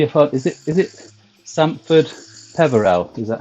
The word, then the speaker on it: Sampford Peverell: which kept me apart is it is it Sandford Peverell is that how you pronounce it yes yeah so a few pictures